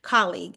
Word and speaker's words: colleague: that it's colleague okay it's like a it's almost like a CA instead of an O So colleague so uh do that